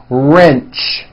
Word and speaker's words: wrench: are sound at the beginning of that word wrench coach approach also with a strong are sound